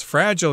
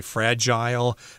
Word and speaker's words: fragile: Fragile here just means they're easily broken. I think in the UK and probably Canada, you guys say fragile, but the American pronunciation is fragile.